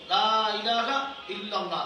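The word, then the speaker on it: لا إله إلا الله: হতে হবে জিকির করব লা ইলাহা ইল্লাল্লাহ লাতে টান দিতে হবে কোন লা ইলাহা ইল্লাল্লাহ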